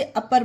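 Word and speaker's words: upper: इसे यू पर नहीं पढ़ेंगे कि यू आया तो ऊपर पढ़ें, ये गलत होगा। इसे अपर पढ़ेंगे क्योंकि ये रूल में यही है कि जिस वर्ड की स्टार्टिंग में यू हो तो उसे आ का उच्चारण दिया जाता है।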